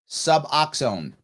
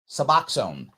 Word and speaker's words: Suboxone: It's pronounced Suboxone. Thank you, Chad. Suboxone. Thank you. I will now say it correctly. Suboxone. See, Jericho? Someone's helping me out there. Suboxone.